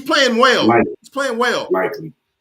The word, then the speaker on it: Likely: Lighty. Isaiah Likely. Lightly. What did I say? Lively. Likely. Yeah, that's likely. Like the lightly. No, Okay. Likely. Likely. Likely. Yeah. All right. Well, I'm going by how they pronounce it. I was thinking it is light, whatever.